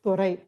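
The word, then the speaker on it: துரை: So in Tamil, Dorai is pronounced as Thorai.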